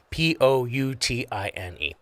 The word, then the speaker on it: poutine: P O U T I N E. Poutine. Oh, like pouting like Yeah, kind of like that but with a different py tang.